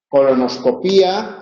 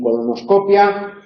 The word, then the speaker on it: colonoscopia: tras piés Eh bueno video video y voleibol voleibol se puede pronunciar también biosfera en Europa es más común biosfera o estratósfera en Europa es más común estratosfera colonoscopía en Europa es más común colonoscopia endoscopía en estos casos